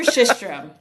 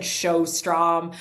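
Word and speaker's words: Sjöström: It's it's Victor Shistrom. Shistrom. Okay. Yeah. But it's it's pronounced S J O S T R O M.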